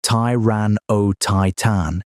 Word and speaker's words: Tyrannotitan: It included Tyrannotitan, pronounced Tyran O Titan, in a slightly earlier layer of rock.